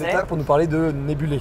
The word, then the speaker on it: Nebulae: Ils sont là pour nous parler de Nebulé. Je prononce bien? C'est ça, parfait. Alors, qu'est-ce que c'est Nebulé?